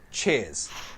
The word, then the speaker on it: cheers: Pronunciation, it's flat, one syllable, cheers. Cheers ya. Jadi R-nya hilang, cheers ya.